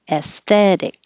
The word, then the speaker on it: aesthetic: was adverb deliberately s this a e is pronounced like forget the a is there s esthetic and the t will change to a d aesthetic impasse forget about all